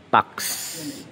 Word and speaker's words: pax: mga doctor no pax. Tamang pagbigkas. So yung letter A ay nasa baba ng X. Nakikita ninyo X. May letter A doon kung mapapansin ninyo. Kaya pax na ang ibig sabihin ay kapayapaan.